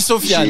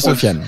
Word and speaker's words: Sofiane: Alors on dit Sofiane, hein, on dit pas Sofiane, on dit Sofiane.